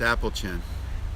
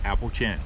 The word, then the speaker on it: Appalachian: legendary mason-dixon line yes let's talk about the pronunciation of the term Appalachian Trail or Appalachian Trail it's Apple chin it's Apple chin so that's another variation